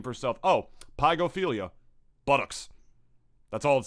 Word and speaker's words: pygophilia: Did you just say pogophilia? Hang up the fucking call right now. No, I'm being serious. Is that how it's spelled? Like P-O-G? Pygophilia. P-Y. Okay, oh, okay.